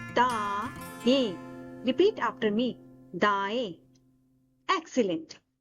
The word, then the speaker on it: दाएं: For right direction in Hindi, we say दाएं. We pronounce it da-ain.